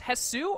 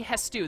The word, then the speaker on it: Hestu: How do you pronounce this? Hetsu or Hetsu? Probably Hestu. The S comes before the T.